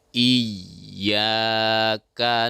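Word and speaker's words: إياك: Jadi kesalahan selama ini adalah kurangnya kita mentasydidkan huruf ya. Seolah-olah ya itu bacaannya terseret ya. Contoh iya. Nah, jadi bukan iya tapi iya ya. Jelaskan ya-nya tasydid ya, karena huruf ya itu adalah huruf lisan yang di tengah-tengah.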